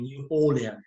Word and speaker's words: New Orleans: which is situated in New Orleans, in Louisiana. Yes, this city has a name which can be pronounced in two ways: New Orleans and New Orleans. Yes, it's up to you.